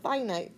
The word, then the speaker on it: finite: and we call those finite sequences so it comes from the word infinite without the I n but we pronounce it finite sequence and these are sequences